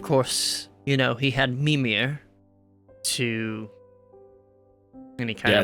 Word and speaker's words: Mimir: Trying some Mimir, you mean? 16. Yeah, Mimir. Mew It's the emphasis is always on the first syllable in Norse.